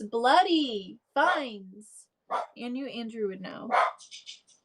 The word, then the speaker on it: Fiennes: Fines.